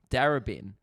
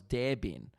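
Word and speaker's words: Darebin: australia uh sorry melbourne there is a a stop called uh darabin which if you sell say it properly oh sorry say incorrectly spells der bin and it became a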